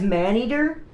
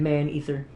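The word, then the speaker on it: Maneater: Since I don't have anything else to play on console right now, besides Man-Eater? I said it wrong. I said Man-Ether. Man-Eater.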